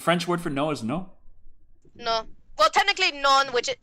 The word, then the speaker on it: non: The French word for no is no? No. Well, technically non, which is... Well, it's spelled N-O-N, non, but you don't say the last word. You say non.